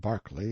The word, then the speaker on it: Berkeley: name and style being the honorable kirk cudbright lannover marjorie banks sellers viscount berkeley of chalmundale castle warwickshire pronounced kakubri flanover marshbank sellers vikant barkley of chumley castle workshop he is standing by